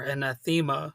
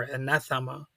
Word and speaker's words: Anathema: So you might hear echoes of Porcupine Tree, Radiohead, or Anathema or Anathema. I've heard that word pronounced both ways.